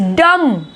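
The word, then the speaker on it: dumb: Next is डम, डम्ब नहीं बोलेंगे, बोलेंगे हम डम, डम।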